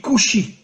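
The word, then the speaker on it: כושי: En hébreu, le mot noir se dit kushi. Alors bien sûr, vous ne connaissez pas l'hébreu, mais faites-moi confiance. Le mot kushi s'écrit en hébreu kaf vav shin yud.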